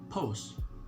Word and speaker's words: pos: you guys so post the way you pronounce it in bahasa is very simple just get rid of the t okay it's just going to sound pose okay so pose p